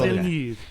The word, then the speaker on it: Villeneuve: Oh, Denis Denis Villeneuve. Yeah, Danny I Villeneuve.